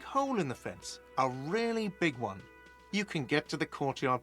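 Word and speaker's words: réal: You owe me 130 real. You pronounce the R with a mock aristocratic accent.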